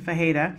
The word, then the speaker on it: Fajeda: I worked so hard, you guys, to be able to say her name properly, because it, to me, it doesn't look like it's spelled, but it's, that's the correct pronunciation, Fajeda.